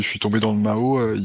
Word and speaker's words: Mao: Et donc tu le prononces, tu l'avais écrit sur les messages que c'est envoyé Mao, M-A-O. C'est exactement ça, c'est comme le dictateur. Ok, tu le prononces pareil.